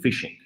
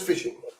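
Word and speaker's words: phishing: your audience what is fishing fishing i mean it's very simple if you like fish you go fishing so no actually fish you know it's it's a different spell it's a ph ishing so uh fishing it's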